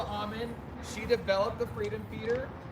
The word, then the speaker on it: Auman: We have with us Auman. Is that how you pronounce it? Yes. Auman.